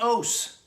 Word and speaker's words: Ose: He said, "It's like toast without the T's." So Gary Ose wanted this song.